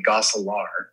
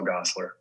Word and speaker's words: Gosselaar: but it it the the correct pronunciation is probably gosselaar because that's the closest to how we say it in dutch which is wholesaling but yeah there you go all right you might be uh you might be dutch all right um but we just i just say mark paul gossler g-o-s-s-l-e-r it's the american version i love that joe